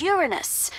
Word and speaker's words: Uranus: pronunciation is Uranus. It's a dactyl.